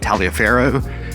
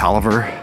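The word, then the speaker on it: Taliaferro: a gift from his wife Elizabeth's father Robert talero pronounced Robert Oliver and yeah given to them as a wedding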